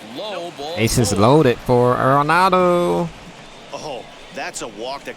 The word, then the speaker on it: Arenado: Saying his last name wrong. It's Arenado, not Arenado. So bases are loaded.